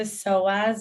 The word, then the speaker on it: psoas: want to research it it's p-s-o-a-s with the silent p so when you're sitting